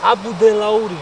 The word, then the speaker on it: Abudelauri: How can I pronounce that? It's Abu Delauri Lakes. Abu Delauri Lakes.